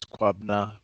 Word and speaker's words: Kwabena: name is um so the the way you pronounce my name was quabna but um to make it shorter for people